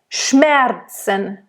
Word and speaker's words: Schmerzen: And again, Schmerzen, it's not Schmerzen or Schmerzen. Schmerzen, Schmerzen, Schmerzen. N at the end.